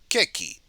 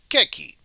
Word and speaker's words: ケーキ: Just listen to the pronunciation because you can still order it if you say it correctly. ケーキ、 Keki. ケーキ、 Keki? ケーキ、 Keki.